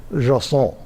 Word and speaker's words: JSON: I say JSON, a lot of people say JSON. It turns out the correct pronunciation is JSON.